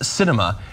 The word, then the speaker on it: Sinema: The Arizona senator's name is pronounced Sinema, and it is apt because she sweeps and